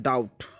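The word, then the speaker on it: doubt: That means कर्ज होता है, डाउट। इसमें भी देखो बी साइलेंट है।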